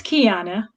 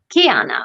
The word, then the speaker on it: Keyonna: hi everybody and kiana just to confirm i'm pronouncing your name correctly right it's kiana kiana okay so let's uh i wanna make sure